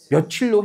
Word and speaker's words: 며칠: 근데 우리 어렸을 때부터 발음 어떻게 했죠? 며칠로 해왔거든요.